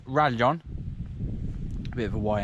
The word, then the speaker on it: Rallon: new orbear rarely on in english it looks like ralon but in spanish it's rajon a bit of a